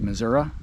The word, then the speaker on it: Missouri: to Missouri they C they pronounce it the way missourians pronounce it which is Missoura I believe and uh then she